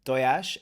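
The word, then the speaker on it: tojás: And two, yeah, Lewis, it's doyash, and that means egg, and it's spelled Tojas. Exactly, the S is a sh.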